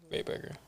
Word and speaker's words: RayBurger: Yes, RayBurger is pronounced like hamburger, except instead of ham, it's Ray. RayBurger.